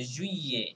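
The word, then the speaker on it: juillet: কি করতে হবে পাশাপাশি, ডাবল এল থাকলে সাইলেন্ট থাকে মোস্ট অফ দ্য কেসেস, কিছু কিছু জায়গায় আছে but most of the cases double L যদি আপনারা একসাথে দেখেন তাহলে ওইটা সাইলেন্ট থাকবে। হ্যাঁ তাহলে এরকম ভাবে পড়তে হবে জুইয়ে, ওকে জুইয়ে, ওকে ওকে।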